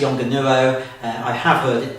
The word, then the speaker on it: Yongnuo: I'm not sure whether that's the correct way to pronounce the manufacturer's name. The spelling of it will be across the bottom of the screen now. But I pronounce it Yongnuo.